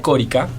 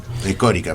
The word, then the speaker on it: Córica: Exactamente, Luisa Marta Corica. Córica, perdón. Exactamente. Con acento en la O.